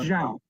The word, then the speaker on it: Zhao: It's Zhao. Zhao? Zhao. I don't think so. Like CHOW, but softer.